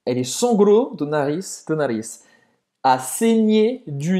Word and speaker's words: saigné: Esse GN, GN, desculpa, é como NH em português. Um pouco mais longo, Nasalado, né? nasalado. Nhê.